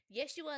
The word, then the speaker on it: Yeshua: Yeshua and the boys. Rabbi Yeshua and the boys. I had to forget that was actually how you said Jesus. That was how you say it before it was translated.